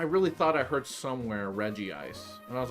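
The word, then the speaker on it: Regice: the reggies all right regie eyes which is such a dumb pronunciation to isn't it Reggie ice even though it's just reg ice but in order for it to be consistent with Reggie Rock and Reggie steel they go Reggie ice like they pronounce the eye twice as if there were two eyes I got to look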